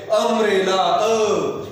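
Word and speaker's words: umbrella: अम्ब्रेला आणि uniform दोघांचं spelling you न सुरू जरी झालेलं असलं तरी उच्चारामध्ये फरक आहे. यू य य य हा काय व्यंजन आहे, आणि अम्ब्रेलाचा यू जरी असला तरी तो काय? अम्ब्रेला.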